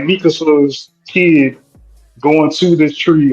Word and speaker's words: Mikasa: Miska. I said it right. who are you talking What's about? her girl? Oh, girl, his sister, his adopted sister. Oh, Oh, Mikasa?